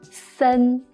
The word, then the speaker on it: 森: And this character is pronounced as 森.